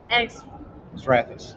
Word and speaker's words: Xrathus: Xrathus.